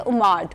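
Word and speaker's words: OMAD: इसकी एक और विंडो आती है जो कि है उमाड, 1 मील अ डे। इसको उमैड भी प्रोनाउंस किया जाता है, इसको उमाड भी प्रोनाउंस किया जाता है।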